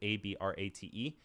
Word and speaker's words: Abrate: That is spelled Emanuele, and the last name is Abrate, which is Abrate.